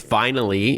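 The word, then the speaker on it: Vinyly: It's vinally. If those who are not driving want to jot this down, it's V I N Y L Y. So, like vinyl with an extra ly at the end.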